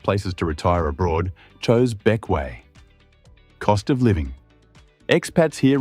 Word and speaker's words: Bequia: From Saba we head south into the Grenadines, to Bequia. Pronounced Beck-way.